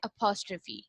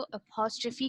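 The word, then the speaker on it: apostrophe: के साथ हमेशा अपॉस्ट्रफी, इसको हम बोलते हैं अपॉस्ट्रफी। ठीक है, आपने इसको अपॉस्ट्रफी की तरह, बिकॉज अपॉस्ट्रफी दिस, इसको हम इस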